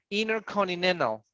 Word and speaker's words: intercontinental: So American pronunciation don't pronounce the letter T. We eliminate because the rule of the N, NT. Yes, always, always you need to pronounce it like that.